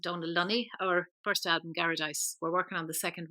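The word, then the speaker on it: Garadice: How do you pronounce that? Garradice.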